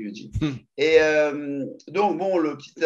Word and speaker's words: Eugene: Ça s'écrit Eugène, on dit Eugene.